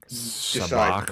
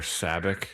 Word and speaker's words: Sabacc: And they can play a really bastardized version of poker to Sabacc or Sabak depending on how you pronounce it.